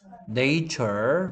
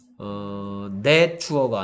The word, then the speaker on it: nature: 얘는 네이추럴이 아니고요. 내추럴이었고요. 얘는 내추어가 아니고요. 네이처였어.